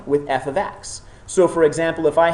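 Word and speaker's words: f(x): a new symbol F bracket X close bracket pronounced f of x so f of x shows that the relation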